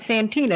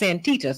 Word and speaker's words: Santita: it's not my girl my name is not Santina it's antita so I want to get it right no